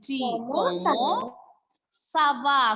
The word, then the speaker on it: Comment ça va: Okay, and since this is a question, you have to use the rising tone.